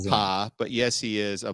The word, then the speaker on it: Appa: It's pronounced Appa, but yes, he is a bison.